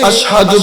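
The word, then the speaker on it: أشهد: তোমার আযানের মধ্যে সমস্যা, তুমি আশহাদু বলতে পারো না, শিনের জায়গায় সা উচ্চারণ করো, তুমি আর আযান দিবা না, অন্য সাহাবী আযান দিবে।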